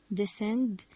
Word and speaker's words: descend: and so on so we don't pronounce the letter C we read the word as if it's not there let's read the examples we have these words scissors send science crescent descend ascend and their meanings